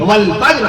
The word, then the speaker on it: فجر: نہیں فرمایا اللہ نے۔ ایسی فجر نہ کہا کیجئے، فجر کی نماز، فجر کا وقت ختم ہو گیا، فجر کا وقت کب لگے گا، فجر نہیں، قرآن مجید اللہ نے باقاعدہ تلفظ بیان فرما دیا، لفظ نازل فرما دیا عرش معلیٰ سے، بسم اللہ الرحمن الرحیم، والفجر قسم ہے فجر کی۔ میں عرض کر